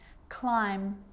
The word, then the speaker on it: climb: practice them with me I'm not pronouncing the B I'm just pronouncing the M consonant sound climb Krum lam some dumb